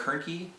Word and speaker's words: Hoernke: I'm Hoernke, rhymes with turnkey.